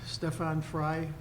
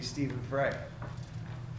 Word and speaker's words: Stefan Frye: have an appointment with Stefan Frye owner of car wash 757 Main Street sir thank you Mr chairman very impressed you pronounce my last name correctly that's well done I'm usually Stephen Fry um thank you for